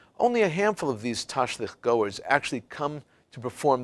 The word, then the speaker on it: tashlich: Side, is a tradition few can even properly pronounce. It's called tashlich.